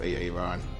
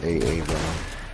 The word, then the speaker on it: Aaron: It's like it's Key and Peele, and it's Aaron, and he goes, you done fucked up AA Ron.